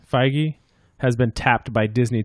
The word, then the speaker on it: Feige: Marvel's Kevin, how do we pronounce his name? Feige has been tapped by Disney to develop a new Star Wars film.